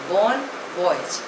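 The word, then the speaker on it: bon voyage: witnesses were excellent next word is बन wise spelling E बी ओ एन ी ओ वाई ए जीी ए pronunciation is बोन वॉयज इट इज अ French word it means good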